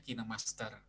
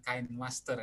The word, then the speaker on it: Kinemaster: editing video dengan kinemaster pengucapan ejaan untuk kinemaster itu memang bacanya kita master master bukan kain Master ya kain nantinya oke kinemaster nah eh yang